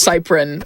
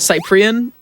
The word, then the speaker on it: Cyprian: So my last name is actually pronounced Cyprian, not Cyprian.